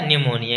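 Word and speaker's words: pneumonia: ये था निमोनिया क्या निमोनिया इंग्लिश में बोलते हैं इंग्लिश में होता है पीस लेकिन पी साइलेंट होता है तो अब देखते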